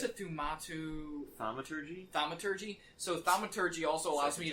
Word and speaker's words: thaumaturgy: How do you pronounce it? Thaumaturgy? Thaumaturgy.